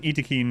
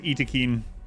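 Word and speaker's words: Ikit: maybe tomorrow night no it's pronounced iin because that's literally how it's pronounced in the trailer video when biotech was released they released a trailer video and they spoke and said all of the um all of them and in the 1.4 announcement where it listed the races tinan specifically in parenthesis put how it's pronounced so unfortunately it's e more like Yin Yin it's it's Eakin unfortunately I don't care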